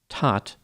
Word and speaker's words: Todt: last name is pronounced normally it would be pronounced tat but Anthony pronounces it like tote so I'll use that